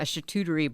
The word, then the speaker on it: charcuterie: so you can make a dinner up a charcuterie board did I say it right that sounded